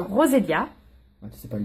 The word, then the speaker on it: Roselia: Le E, ça se prononce pas. Roselia.